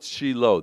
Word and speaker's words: Shiloh: the name resonates oh but we call it sheilo that's the proper hebrew pronunciation anyhow sheilo was the first